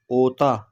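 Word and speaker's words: otak: हो ठीक है दिमाग ओता ओता के साइलेंट सर कपाला ठीक है कपाला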